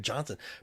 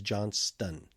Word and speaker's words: Johnston: name wrong I know no we say Brent Johnson Brent J I apologize for that is Johnston know that T is silent that I [ __